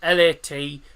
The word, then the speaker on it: Latvija: They spell it as Latvija because that's how they say Latvia in Latvia.